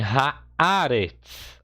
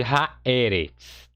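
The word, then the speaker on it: הארץ: Então você tem haaretz. Olha, haaretz. Haaretz, a terra, tá? Você não tem aqui haeretz, tá? É haaretz.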